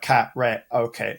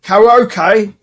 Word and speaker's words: karaoke: Because Japanese is quite phonetic. So say like cat re okay you know karaoke whereas we sort of like punch the vowels together you know karaoke karaoke mate karaoke